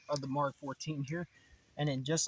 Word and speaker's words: Mk 14: actual military pres pronunciation it's not MK14 the real pronunciation is Mark 14 hence letters MK that's short for Mark now before we light